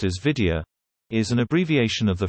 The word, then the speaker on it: Wiedia: In German the word Vidya, pronounced as Vidya, is an abbreviation of the phrase V diamond, which translates as like a diamond.